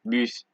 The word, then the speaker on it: bus: you see in French, you generally don't pronounce D's, P's, S's, T's, or X's. However, there are a few exceptions, just a few, such as sud, cap, slip, fils, bus, brut, ouest, huit.